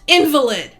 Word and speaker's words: invalid: bedridden invalid invalid then when used in that context the word is pronounced invalid please I know bedridden invalid there is nothing wrong